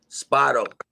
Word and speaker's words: Spado: how do you say your last name sparrow spado so how you doing today ori i'm good